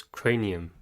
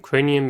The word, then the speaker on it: cranium: C says k because it's followed by r, not e, I, or y. The phonogram A says it's long sound because it's at the end of a syllable.